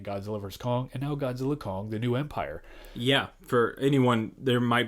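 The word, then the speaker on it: Godzilla x Kong: The New Empire: US so the until further notice it is pronounced Godzilla Kong the new Empire yeah you know I guess if you really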